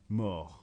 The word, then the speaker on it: mort: First the part of être, elle est, and then the verb to die, mourir, which was again irregular, mort. Now it's pronounced mort, but in the feminine you need